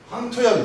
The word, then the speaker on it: 황토: 거예요 자 그 다음에 황토현 소개합니다 황토현 너무 흔한 이름인데 어떤 사람은 이거를 황토 맞죠 어떤 사람은 상토라고 그래요 향토 이거 잘못된 발음이 황토가 맞습니다 노란색 크기죠 근데 이제